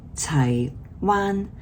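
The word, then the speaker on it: 柴灣: Same Wan, but one is pronounced Shang Wan, and one is pronounced Chai Wan.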